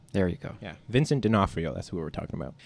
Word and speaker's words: D'Onofrio: robbie knott who is also how do you pronounce his name dinofrio there you go yeah vincent d'onofrio that's what we're talking about uh yeah so